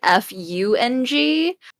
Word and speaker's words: Feng: Well, if you say it in, I guess, how you would as a Chinese person, it would be pronounced Feng, which is, I guess, if you spell that in English, it might be Fung.